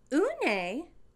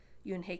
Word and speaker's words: Unhei: name a girl asked yunhei said yuen hey une the girl asked scrunching up her face some kids chanted no no you and hey corrected it's spelled u-n-h-e-i it's pronounced yoon hey